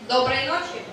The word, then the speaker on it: доброй ночи: So to say good night, we say доброй ночи.